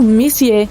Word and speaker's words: Messier: e m43 bom o m significa messier pronunciado messier e messier Charles messier para ser